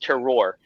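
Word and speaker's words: terroir: know that from somalia it is it is pronounced terror so we can fix that thank you david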